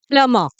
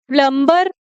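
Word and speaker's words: plumber: ठीक है, तो प्लम्बर बहुत सारे लोग जो बोलते हैं, इसमें बी, ये जो बी है ना, ये साइलेंट होगा। ठीक है, तो प्लम्बर नहीं बोलेंगे, इसको प्लमा बोलेंगे।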